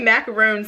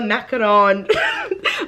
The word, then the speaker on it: macaron: obsessed with this fragrance I want to say macaroon so bad but I know that's not right but then when I